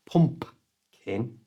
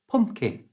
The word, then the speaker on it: pumpkin: this to say pumpkin the easiest and most natural way is to not pronounce the second P it's not pumpin it's just pumpkin you try don't say